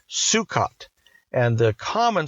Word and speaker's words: Sukkot: It's called Sukkot, and the common spelling is S U K K O T, although it's spelled a number of different ways.